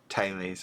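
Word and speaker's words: Thales: second I'm back so the correct pronunciation is taes Tes I suppose I might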